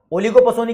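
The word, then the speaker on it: oligopsony: ही बोल रहा हूं ओलिगोपसोनी बोलते हैं पी थोड़ा साइलेंट सा रहता है ठीक है अ पसोनी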